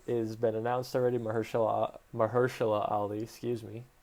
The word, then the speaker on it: Mahershala: seen that blade has been announced already mahershala mahershala ali excuse me butchered that on the first try is going